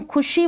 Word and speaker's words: खुशी: Pronunciation का इसका जब हम खुशी बोल रहे हैं तो खुशी, शी को हम ज़्यादा लंबा खींच के नहीं बोल रहे हैं, ज़्यादा इसका लंबा प्रोनाउंसिएशन नहीं हो रहा है।